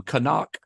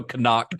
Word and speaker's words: Knock: call him call him kanak kanak which maybe is a German pronunciation I don't know you